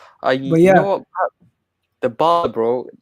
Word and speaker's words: Dybala: It's Dybala. Dybala. It's Dybala. That's how you say it.